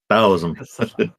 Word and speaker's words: Taoism: Taoism. Taoism? Taoism. Yeah, in Chinese it's actually pronounced with a D instead of a T, but most people write